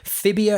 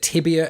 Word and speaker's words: tibia: Is it fibia and tibula, or is it tibia and fibula?